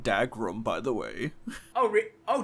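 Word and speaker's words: Dougram: they kind of remind me the guys from dugram who oh it's a risque takahashi mech show they made africa it's pronounced dagrum by the way oh oh dead ass yeah it's pronounced dag room even though it's w it's dag room marks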